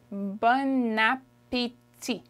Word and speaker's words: bon appétit: There's a liaison in there, and that's why it's not bon appétit. We'll learn that in another video, but the way you pronounce it is bon appétit.